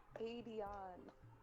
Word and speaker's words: Adion: How do you pronounce it? Adion. Oh my goodness. Adion. Not I'll give Aiden.